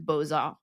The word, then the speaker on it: beaux-arts: like in the term beaux-arts, which normally you wouldn't pronounce the X at the end of beau, but it's attached to the arts afterwards.